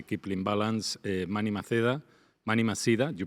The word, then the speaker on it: Maceda: Manny Maceda, you pronounce in English.